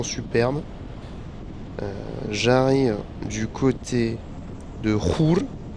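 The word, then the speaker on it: Chur: J'arrive du côté de Ruhr. Je pense que c'est la prononciation suisse-allemand, mais en France, on dit Coire, je crois.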